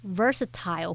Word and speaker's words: versatile: 汤姆·克鲁斯借由出演各种不同类型的电影，展现了他的多才多艺。句子里面的单字 versatility，它表示多才多艺，或是具有多种用途、多功能性。那这个字呢，其实是由 versatile 或是念作 versatile 加上名词字尾 ity 而来的。好，那我们来补充一下 versatile 这个字根。vers 和 vert